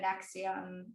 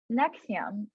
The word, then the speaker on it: NXIVM: like never heard of the NXIVM. Am I even saying it right? Yeah, NXIVM.